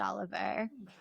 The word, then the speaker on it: Olivier: Oliver. No, it's spelled Olivier, but he said that he wanted to be pronounced Oliver.